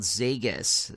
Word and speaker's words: Zegas: So the first one up is called Zegas. It's like Vegas, but with a Z, and it's by Michel Fife.